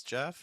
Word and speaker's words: Geoff: My name is Geoff. It rhymes with breath.